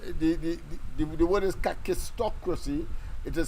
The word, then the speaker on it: kakistocracy: O2 Cy c r a c y so kakistocracy kakistocracy yes I have I admit I have had some problems in pronouncing it because of its PR I should